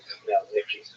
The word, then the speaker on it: Khmelnytsky: it look something like Khmelnytsky. It's actually pronounced Khmelnytsky with a letter at the beginning.